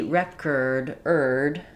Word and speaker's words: record: Now it's going to be reduced and it's going to be recorded. I'm going to lose my or that I had in the clear syllable.